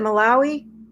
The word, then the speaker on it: Malawi: Malawi.